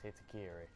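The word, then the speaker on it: Hitokiri: Well, we have a I still can't pronounce their name. Hitakiri. Yes, Hitakiri.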